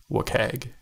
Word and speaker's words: WCAG: So that acronym is pronounced WCAG.